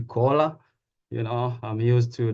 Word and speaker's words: Koola: Kola U uh my patient calls me Kola but it's real pronounced the cola you know I'm used